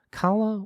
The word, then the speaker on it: Calla: sound the same and she pronounced them kala with the tongue up making the broad a sound callahan with the tongue down making a much sharper a sound and kala's spanish in